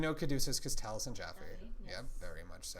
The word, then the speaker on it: Taliesin Jaffe: Taliesin Jaffe rhymes with taffy.